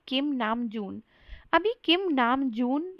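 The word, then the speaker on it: 남준: तो नाम तो ऐसे ही रहेगा, बट जो जून वाला पार्ट है उसमें ज को ज नहीं बोलना है, झ झ ऐसा बोलना है।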